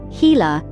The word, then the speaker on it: Gila: its bold colors and unique venomous bite the Gila monster pronounced heila is one of only a handful of venomous